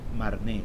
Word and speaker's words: Marne: martín así que cuando escuches no te preocupes marne no te olvides que todo francesa agarre terminación